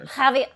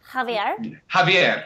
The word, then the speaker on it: Javier: some commentators say Javier what is the correct pronunciation because I'm horrible with names um jav jaier jaier Javier Javier Javier is that right Javier jaier it's like